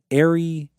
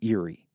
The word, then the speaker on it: Erie: my friend suicide thanks Arie Sarah might be Eerie Eerie that's it Eerie Sarah yeah that's how